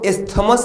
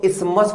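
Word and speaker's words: isthmus: इसको ये टीएच लिखा हुआ है, इसको इस्थमस नहीं पढ़ते, इसको इस्मस पढ़ते हैं। ये टीएच साइलेंट होता है, इस्मस।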